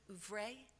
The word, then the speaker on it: oeuvre: He would immerse himself in the writer's entire, is this how you pronounce it, oeuvre?